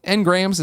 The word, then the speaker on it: engrams: And is it engrams? Am I saying it wrong? You're saying it right.